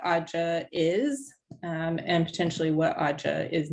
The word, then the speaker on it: AUDJA: So we made an acronym And if you pronounce the acronym, it sounds like AUDJA.